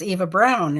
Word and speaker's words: Eva De Bruyne: Eva De Bruyne, she said, pronunciation is Eva Brown is fine.